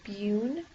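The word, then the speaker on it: BUN: or blood Ura nitrogen it's pronounced beun and this is when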